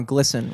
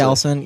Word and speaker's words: GLSEN: How did you come across the place you're with now, GLSEN, which it took me a while to figure out how to pronounce that. Well, you I was did like, that perfectly. GLSEN, yeah.